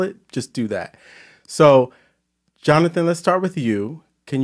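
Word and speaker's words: Jonahsahn: But so all over the internet, I'm Johnathan, which is the Japanese pronunciation of my name. So it's J-O-N-A-H-S-A-H-N, Johnathan, Johnathan. Okay.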